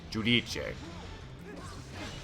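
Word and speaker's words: Giudice: of New Jersey, Teresa would call themselves a Judice family, like Judice, when actually it would be Judice, or actually I put the emphasis in the wrong place. Judice. There's no accent on the final syllable, so the final E would not be.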